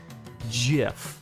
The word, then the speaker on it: GIF: GIF. Yes, because that is how it is pronounced.